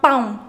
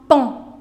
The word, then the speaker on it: paon: You do not say it as un paon. No, that's un pon. Un pon. Pon. Pas paon. No, un pon.